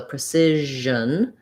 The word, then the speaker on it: precision: our best way so precision and then we're going to have basically very little vowel here as well if anything a little schwa we have another one